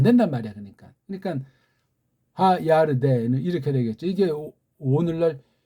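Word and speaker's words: ירדן: 우린 덴 그러는데 걔네들은 덴이라는 삼성 읽기 발음이 안 돼요. 받침이 안 된단 말이야. 그러니까 하야르덴은 이렇게 되겠죠. 이게 오늘날 요르단식으로 우리 한글에 번역되어 있으니 참 답답하죠.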